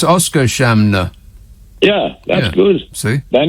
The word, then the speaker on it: Oskarshamn: Oskarshamn. No, I don't think so. It's Oscar Shamner.